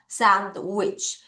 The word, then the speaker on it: sandwich: 자, 두 번 같이 발음할게요. sandwich.